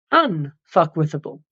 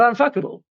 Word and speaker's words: unfuckwithable: you get to becoming unfuckwithable. Not unfuckable, as some people mispronounce it. Unfuckwithable.